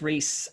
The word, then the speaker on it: Rhys: Uh but it's Reese RHYS as the aliens uh spell it out.